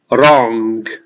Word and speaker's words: wrong: weather forecast is wrong we don't pronounce the w we don't say wrong it's just the r wrong is wrong the weatherman